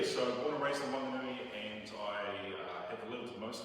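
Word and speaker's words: Whanganui: a little town called Wanganui. Back then it wasn't spelled with an H, then it had an H, but if you live there you don't pronounce the H, just in case you're wondering.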